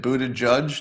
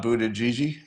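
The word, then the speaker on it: Buttigieg: all right uh so you pronounce a it Buddha judge not Buddha Gigi is it Buddha judge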